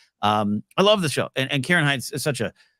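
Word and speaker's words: Ciarán Hinds: I think I probably did not say his name correctly, but how pumped are you, Ken? Kieran Hines, I believe.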